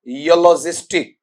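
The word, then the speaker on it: eulogistic: की स्पेलिंग है ई यू एल ओ जी आई एस टी आई सी ठीक है क्या पढ़ेंगे इसे बेटा जी आपका वहां पर योलॉजिस्टिक पढ़ेंगे आपका और यलॉजिस्टिक का मीनिंग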